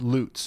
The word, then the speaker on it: Lutz: all right well I I thought that you guys in chat were misleading me but you were right it's loots my bad corrected from